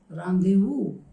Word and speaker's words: rendezvous: This is also a word taken from French language. Okay, the spelling has got a different structure, but the pronunciation is rendezvous.